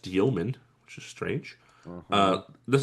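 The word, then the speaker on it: Demin: I believe I learned this is pronounced Dioman, which is strange.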